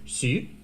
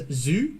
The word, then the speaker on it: Xu: Her surname in Chinese is Xu, but like every English speaker out there pronounces it either as Zhu or Shu or some other random variation of it.